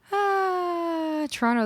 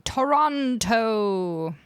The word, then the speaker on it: Toronto: Toronto, the T is silent. Absolutely. You'll never catch me saying Toronto.